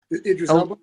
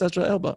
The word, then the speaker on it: Idris Elba: Idris Elba. Elra Elba. Thank you. He shows up and and my wife who's that I go that's Ezra Elba.